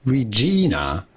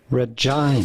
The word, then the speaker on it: Regina: There is a Canadian family from Regina, Saskatchewan. Regina? Oh, you're right. I just made it a vagina. Sorry. Okay, try it again. Is it? Wait. No, it's Regina. Don't say Regina.